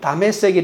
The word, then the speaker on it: 다메섹: 다마스쿠스를 이 히브리어 발음으로 하면 다메섹이 되는 것이죠.